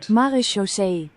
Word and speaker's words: Marechaussee: Marechaussee. Marechaussee. Okay. Obviously, I'm not pronouncing that correctly at all, and neither is the bot.